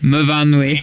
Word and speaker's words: Myfanwy: It's MYFAN. There's a W. How do we say that then? Myfanwy. Oh, Myfanwy. Of course, your S's become your V's, don't they? Yes. Yeah, it's Myfanwy, or some Welsh people call it Myfanwy.